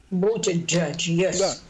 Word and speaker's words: Буттиджадж: Я правильно произношу его фамилию? Буттиджадж.